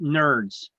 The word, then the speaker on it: NRDS: number I like to I like to pronounce it by pronouncing out the letters I call it nerds nrds nerds all right